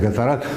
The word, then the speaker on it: Gatorade: Вы можете использовать Gatorade, или как он у нас правильно произносится, Гаторад.